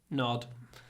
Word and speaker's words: nod: nod yeah it's okay nod uh nod make the n we don't want too much a in this word nod nod next one